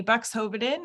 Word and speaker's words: Buxhoeveden: me my name is bucks hobartin is how you say that very very long name there i am a